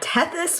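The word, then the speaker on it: Tethys: will say uh I I looked up her name because it was like spelled like titties or something on the the sub and I was like that seems wrong and uh it's like tethis which is like a water sprite from mythology or something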